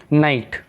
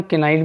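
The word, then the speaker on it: knight: नाइट, अब यहाँ पे इसे हम केनाइट भी बोल सकते हैं पर इसे नाइटी, क्योंकि के इसमें साइलेंट है।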